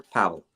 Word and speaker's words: Pavel: could be either way it could be Pavel or Pavel how do you say it I I prefer Powell Powell Pavel the Pavel